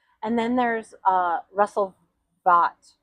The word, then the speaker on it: Vought: And then there's uh Russell Vot. Yeah. I think they pronounce it vote.